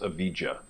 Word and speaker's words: avijja: So if you look at the Pali word for ignorance, is avijja. Okay, so it's made of 2 words, very important, and I put a little dot in between. I've heard it pronounced avijja.